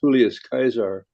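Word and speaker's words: Julius Caesar: in your uh coins would be pronounced julus kaisar I thought it was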